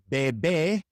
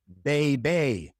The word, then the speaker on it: bebé: It is bebé and not beibei.